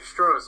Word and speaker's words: Stroz: Yeah, Stroz, like the beer.